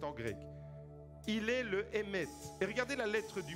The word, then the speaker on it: Emet: Dites avec moi, Emet. Emet, c'est le mot vérité. C'est traduit en français par vérité. Emet, en hébreu, s'écrit avec 3 lettres.